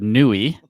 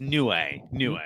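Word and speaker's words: Niue: I'd never heard of, Nui, right? Am I saying it right? I think it's Nue. Nue. Yeah. Nue. Oh, okay. Nue.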